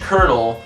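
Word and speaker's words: colonel: The reason why it's spelled with an L, but pronounced with an R, is because when we borrowed it in English, we actually borrowed it twice.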